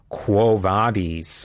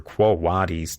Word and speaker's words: Quo Vadis: Another fascinating story is the story of Quo Vadis or Quo Vadis, depending on how you want to pronounce it.